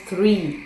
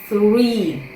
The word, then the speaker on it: three: Дивіться, інколи мені студенти плутають слово there і слово three.